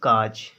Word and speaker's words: cause: अब इसको कायूज पढ़ेंगे, CA का, एस यानी यू एस यूज कायूज पढ़ेंगे तो गलत है, कायूज नहीं बोला जाएगा इसको पढ़ेंगे हम CAUSE काज।